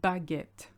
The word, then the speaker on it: baguette: It's une baguette. Okay, you don't skip the A.